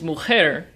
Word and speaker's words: mujer: since the pronunciation is mujer and the emphasis really does fall on the last syllable we don't need an